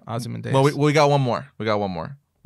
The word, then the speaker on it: Ozymandias: Yeah, I would just keep pronouncing it the way that they say it in the movies and the television right. show. Right. And also, that's the way it's pronounced for the actual character in history and mythology.